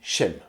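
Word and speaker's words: שם: Rappelons-nous que le nom en hébreu se dit chem ou chem.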